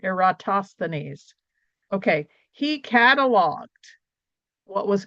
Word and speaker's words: Eratosthenes: Eratosthenes, no, I have to say it right, Eratosthenes.